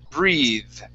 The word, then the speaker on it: breathe: So this is going to be a voiced TH. That's when you have the th sound. Okay. It makes a sound. So the word is breathe.